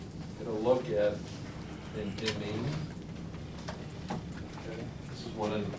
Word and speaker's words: imine: It's imine, not I mean. Imine. Imine. Okay? So we're going to look at imine formations. Okay? Here what we're going to do is get a look at an imine.